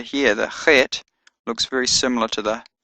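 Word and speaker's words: חֵית: The eighth letter, Chet, has a Ch sound as in Loch or Bach.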